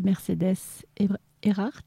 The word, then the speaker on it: Mercedès Ehrhard: Reçoit aujourd'hui Mercedes Erhardt, je l'ai bien prononcé ?